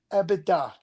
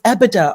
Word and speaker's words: EBITDA: EBITDA. You said EBITDA or something different. Most people mispronounce EBITDA anyways, right?